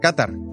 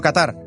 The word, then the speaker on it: Qatar: un poco más Qatar quizá sorprenderá que lo pronuncie así Qatar y no Qatar pero es que así es como se pronuncia en árabe me lo explican los